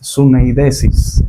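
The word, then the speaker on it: συνείδησις: Y en cuanto a su definición, en el idioma griego, la pronunciación de la palabra conciencia es suneidesis.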